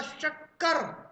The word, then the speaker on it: शक्कर: अब नहीं पढ़ना, लेकिन अब मैं बताऊंगा इस शाह को बोलते समय जीभ कहां जाकर लगती है और उच्चारण स्थान आप बताना। अब मेरे साथ बोलना, शक्कर।